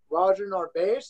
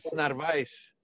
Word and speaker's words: Narvaez: Roger Narvaez. Is that how you pronounce it perfectly? No, not at all. But you're white, so you get some leeway there. It's Narvaez. Narvaez. There you go.